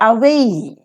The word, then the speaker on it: away: take it away now away is a die syllabic word and following the rule of stress we mark it at the second syllable way so away stand up stand up